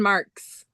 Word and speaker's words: Marxxx: Is that how you pronounce the Marxxx. last name? Madison Marxxx. Marxxx. Like wrestling marks, like porn marks, like Sure. Like XXX, like X marks the spot.